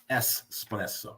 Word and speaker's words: espresso: that you mean an espresso espresso yeah espresso not X pretty cool and biscotti